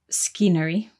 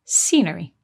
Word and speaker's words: scenery: n r y but the C is silent at the beginning so we don't say skiner we say scenery good and because of